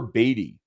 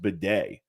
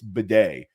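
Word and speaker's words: Badie: huge Fab addition Tyler batty T well it's actually pronounced Beday which who knew that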